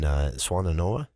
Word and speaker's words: Swannanoa: And another photo here of volunteers loading bags of groceries at what is a pop-up street-side food bank in Swannanoa.